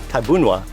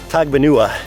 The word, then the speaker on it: Tagbanwa: This entire island is ancestral domain of the Tagbanwa tribe, Tabunwa. I remember the first time we came here, I read it off of a sheet and it looked like Tagbanua, so that's how I pronounced it.